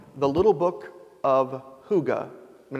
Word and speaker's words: hygge: book right now called the little book of hygge when it's spelled h-y-y-g-e it's a Danish word we might